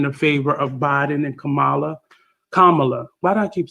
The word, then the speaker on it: Kamala: And I'm very confident that we're going to get a win in the favor of Biden and Kamala. Why do I keep saying her name wrong? Kamala.